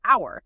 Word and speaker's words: hour: the flip side take hour starts with h a consonant letter but the h is silent the sound is like